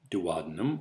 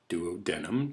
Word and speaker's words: duodenum: The small intestine has 3 subdivisions: the duodenum or duodenum, depending on how you want to pronounce it, the jejunum, and the ileum.